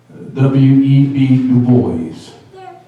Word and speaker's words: Du Bois: W.E.B. Du Bois, that is the correct way to spell it, to say it.